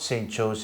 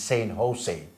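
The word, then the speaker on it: San Jose: In America, we don't say St. Joe's. Yeah. The letter J, it is pronounced as H. Yeah. So it's not St. Joe's, it's St. Jose.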